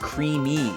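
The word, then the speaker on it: creemee: It's pronounced creamy.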